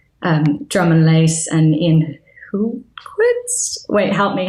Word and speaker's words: Hultquist: music composer team, Drum and Lace and Ian Hultquist. Wait, help me. How do I pronounce his second name?